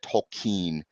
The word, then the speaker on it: Tolkien: Tolkien. That is how it is believed that it was pronounced properly.